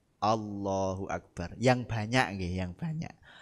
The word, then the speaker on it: Allahu akbar: Allah o Allahu akbar Jadi bukan a ng Allahu akbar mestinya gitu Allahu akbar A jadi harus a bukan O ini yang sering Nah